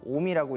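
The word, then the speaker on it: 臣: 그게 뭐냐면 신이라고 한자를 써서 오미라고 읽고, 연이라고 한자를 써서 무라지라고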